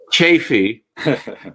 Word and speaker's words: Chaffee: It's a long A, but that's okay. Chaffee.